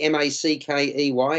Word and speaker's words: Mackey: writer and poet a role Phil do you pronounce her name Mackie m-a-c-k-e-y Emma Mackey yes that's what Rob said yeah